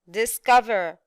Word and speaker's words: discover: yes very good now the last word discover discover discover yes very good we have the second syllable very good now let's